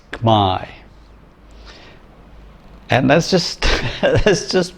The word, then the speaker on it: Khmer: they want to say khmer or khmer khmer khmer that's not it in the language in cambodia it's my and that's just that's